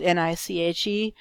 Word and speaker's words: Niche: I'm and I'll, spelled N-I-C-H-E, but pronounced Niche, and I'll be your facilitator for the course.